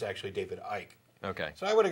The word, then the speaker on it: David Icke: But, you know, last week I said that it was David Icke.